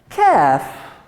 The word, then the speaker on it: calf: Calf, you don't pronounce L, you say calf.